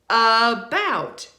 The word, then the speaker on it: about: We don't say that because we don't stress the A in about. About. We stress the second syllable. So because of that, we have to reduce or unstress the A so that we can stress the bout, right?